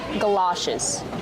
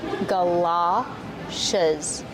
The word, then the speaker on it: galoshes: And you can also call them galoshes. Let's talk about the pronunciation. Ga, like up and cup, gala. It's an open sound, like stop and hot, galoshes. These are galoshes.